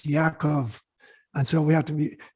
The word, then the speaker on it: Yaakov: When you think about Jacob, it's not spelled with a J, it's Yaakov.